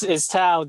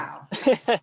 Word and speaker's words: Thao: You have to correct me, Elvis, if I'm It's Thao. The H is silent. Thank you. Thao.